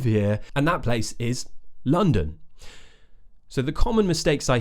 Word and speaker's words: London: and that place is London so the common mistakes I hear are either London when people pronounce it more how it's spelled with the O's right Lon that's incorrect the other one is Landon and that's often because